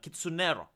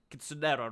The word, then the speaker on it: Kitsunero: Uh kitsunero. Kitsunero, right? Like it it rhymes with Monero with Bitcoin.